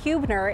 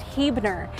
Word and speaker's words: Huebner: spelling is not pronounced hubner it's pronounced heer it actually has its roots in German ancestry but it's about an